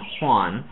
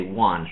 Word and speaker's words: Juan: say the name Juan, instead of saying Juan, they say Juan, so they drop the H completely. You don't want to drop the J.